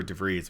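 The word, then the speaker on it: De Vries: If you're just talking about Acuña for DeVries, which is how you say his name, it's in Dynasty, you're like, wow, I'd love to have Acuña.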